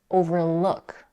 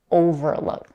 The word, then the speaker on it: overlook: It's overlook, not overlook.